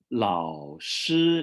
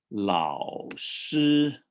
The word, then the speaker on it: 老师: And another one is I 老师, you have 老师 over here. 老师. And the third tone with the first tone. So you do low fourth, 老师. Now, no, not full fourth tone.